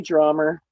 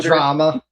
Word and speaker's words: drama: Okay, drummer. Okay, soda. Drama. Oh, now you're saying it right. Okay. Drama. That's how I say it.